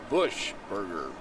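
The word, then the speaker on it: Buchberger: outside from hurt Jacob bushberger although his last name is spelled b-u-c-h b-e-r-g-e-r it is pronounced Bush Burger pitch a little bit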